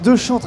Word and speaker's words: Dechantre: J'ai bien prononcé. Deschantres. C'est Deschantres.